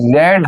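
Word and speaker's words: read: की third form भी रेड हो जाती है, बोलते रेड है लेकिन लिखते रीड, की स्पेलिंग वही है।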